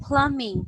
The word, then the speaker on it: plumbing: you are going to read it as plumbing silent letter B all right again okay